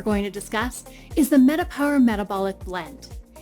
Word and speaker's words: MetaPWR: mean comprehensive or transcendent power spelled pwr can mean power as it's pronounced while also meaning personal Wellness realized metapower metabolic blend features proprietary